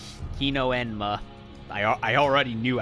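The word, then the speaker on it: Hino-Enma: mistook for a spider pronounced he no and ma I already knew how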